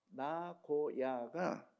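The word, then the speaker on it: 名古屋: 나고야가 우리 발음으로는 명고옥이지만 1번 발음으로 나고야예요.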